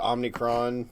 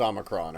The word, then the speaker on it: omicron: the omni court variant the omnicron variant the look i know it's pronounced omicron okay but but just like